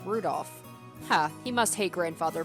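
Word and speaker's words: 留弗夫: on it's just anyway this guy's name is pronounced rudolph ha he must hate grandfather for giving him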